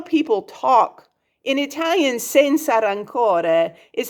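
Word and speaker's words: senza rancore: rancor that's not how people talk in italian sensa rancore is how you say no hard feelings in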